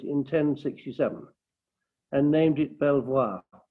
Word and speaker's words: Belvoir: 1067 and named it belvoir the local anglo-saxons just called it beaver which is why we still pronounce it like that today my family name is